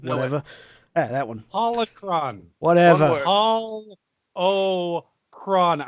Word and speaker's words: Holocron: Holocron. I know it's 3 syllables, but try.